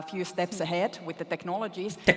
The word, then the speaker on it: technologies: It's a secondary stress which means it needs to have some presence of a vowel sound. Not as much presence as nologies, but it needs to have the forward movement and feeling of the vowel.